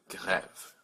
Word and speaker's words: grève: So this word is pronounced grève with a hard G, g, grève.